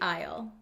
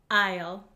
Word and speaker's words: aisle: shop down the cereal aisle or the dairy aisle so this is a very useful word for